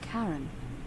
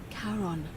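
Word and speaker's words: Charon: it's just as you just said only your pronunciation is a little off the name you heard wasn't karen it was c-h-a-r-o-n as in caron the ferryman of the dead karon who in exchange for the right coin helps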